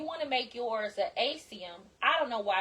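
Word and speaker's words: acetum: If you want to make yours a asium, I don't know why it's pronounced that way, but that's the way I've heard it said.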